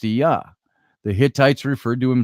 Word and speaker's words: Ea: Enki's Akkadian name was Ea, pronounced Ea.